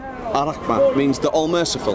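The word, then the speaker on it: الرحمن: Then we've got at the top there, how do I pronounce that in Arabic? Ar-Rahman. Ar-Rahman means the all merciful.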